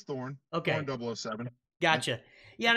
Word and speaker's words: Thorne: Today we're talking to Thorne, and I should have, is it Thorne or Thorny, or how do you pronounce it? It's Thorne.